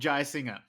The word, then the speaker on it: Jayasinha: No, it's Dilruk Jayasinha. Jayasinha is But how you that's pronounce how it.